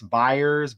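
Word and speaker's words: Byers: Look Chris Buyers. Buyers rhymes with Meyers.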